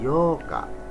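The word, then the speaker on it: 八日: Yoka ya double K kalau tanggal 8 Yoka jadi panjang vokal o-nya Yoka tanggal 9 kokonoka tanggal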